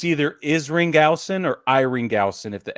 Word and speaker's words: Isringhausen: Jason, it's either Isringhausen or Iringhausen if the S is Isringhausen. Yeah, Isringhausen.